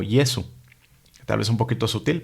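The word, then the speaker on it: Jesu: La J tiene el valor de la Y en español. No se pronuncia de manera áspera, como diríamos de José, sino más bien, por ejemplo, vemos en el misal aleluya o Yesu.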